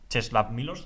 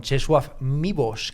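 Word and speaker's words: Czesław Miłosz: bastante de acuerdo con chesu mbos creo que se pronuncia así porque la l tachada la es que los polacos se hacen un lío Para qué para qué además voitila es votiva la l tachada es una u o una UV a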